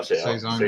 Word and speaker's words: Saison: Yeah, Saison.